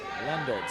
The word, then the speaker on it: Leendertz: Lendertz, that's how you pronounce it.